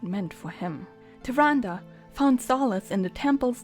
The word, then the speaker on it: Tyrande: so you want to know more about tyrande yeah that's how it's pronounced do you like owls do you like